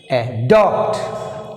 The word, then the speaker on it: adopt: Adopt. Adopt. Adopt. Here second syllable is adopt. So D. Beginning of the letter is second syllable. Beginning of the letter is D. So we must show stress mark on second syllable letter D.